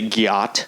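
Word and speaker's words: gyatt: fat ass, they say gyat. Gyat? Yeah, it's spelled G-Y-A-T-T, so spelled same as my name, but completely different.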